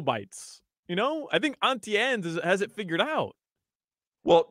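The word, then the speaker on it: Auntie Anne's: name it's Auntie ANS I say auntie too Auntie if you're talking about your aunt but not if you're talking about Auntie ANS that's not the name it's spelled the same way it's Auntie I understand that but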